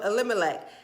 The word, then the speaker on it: Elimelech: that's what it is and the family of elimelech and his name was Boaz okay through all